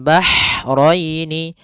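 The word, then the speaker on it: بَحْرَيْنِ: dibaca dengan jelas kemudian bahrainii Ha ini h-nya H kecil hati-hati jangan terbaca dengan ha besar jangan marjal bahrainii ya kan karena dia huruf ha kecil Bagaimana pelafalan ha kecil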